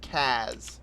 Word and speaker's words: CAS: That's pronounced Kaz, sunshine.